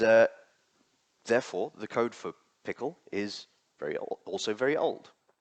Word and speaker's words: PECL: Um many people pronounce it peckle, but apparently it's pronounced pickle.